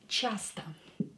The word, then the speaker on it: часто: And the last one is часто. Часто. Часто is often, often. Часто. Again, this O will be pronounced as A because it's not stressed.